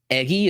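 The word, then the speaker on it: Eguy: intrig here another guy eggy Rosario spelled e guy u y eggy as the pronunciation I thought he was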